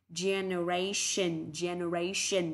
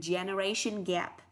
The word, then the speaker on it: generation: Vậy từ này không đọc là ration mà đọc là ration, vì âm T, E, O, N đọc là sờ nặng ạ.